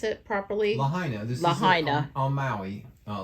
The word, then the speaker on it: Lahaina: this is on Mally and how do you pronounce it properly Lahaina on Maui uh Lahaina right it's right at the edge these good